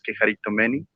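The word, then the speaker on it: κεχαριτωμένη: Y con respecto a lo de Quejaritomeni o Quejaritomene, como él lo quiera llamar, pero la pronunciación real es Quejaritomeni, pues vamos a leerles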